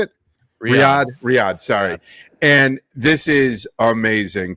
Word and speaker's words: Riyadh: Riyadh, sorry.